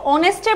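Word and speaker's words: honest: অনেস্টের প্রোনাউন্সিয়েশনটা কিন্তু আমরা এইচটা কিন্তু সাইলেন্ট থাকে, প্রোনাউন্সিয়েশনটা হয়ে যায় অনেস্ট।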